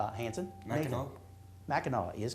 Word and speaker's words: Mackinac: Mackinac. Mackinac is correct. Mackinac City, by the way, on the same peninsula is spelled with an A-W.